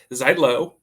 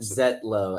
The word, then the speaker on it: Zietlow: true so tell them how you actually pronounce your last name zet L as as in the eye is silent for some reason ask my ancestors about